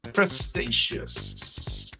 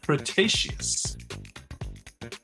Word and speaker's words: Cretaceous: This prehistoric flying reptile lived during the late Crestaceious Cretaceous. I'm sorry. I don't didn't say that properly. Cretaceous.